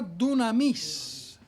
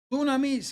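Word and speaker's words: δύναμις: y dice aquí amados la palabra poder en el griego se pronuncia dunamis dunamis que quiere decir Force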